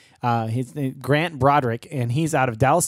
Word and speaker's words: Braudrick: thanks for having me did I pronounce that name right it's Broderick right yeah yeah correct correct yeah Broderick there you go and